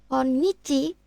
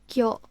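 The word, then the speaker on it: 今日: Jadi bukan konyichi tapi dia akan menjadi koyo.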